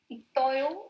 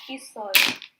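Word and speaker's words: 있어요: It's not Itoyo, it's isoyo.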